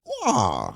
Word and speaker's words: Waugh: Waugh.